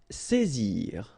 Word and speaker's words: saisir: Saisir. Alright, when you combine A and I, you get the sound E, saisir.